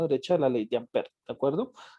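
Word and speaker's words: Ampère: Se escribe Ampere, pero se dice Ampere.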